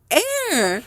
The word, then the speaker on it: heir: Air.